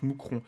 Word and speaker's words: Mouscron: au pluriel situé à mousron en Belgique enfin ça s'écrit Mouscron avec un S mais ça se prononce mousron et donc ça a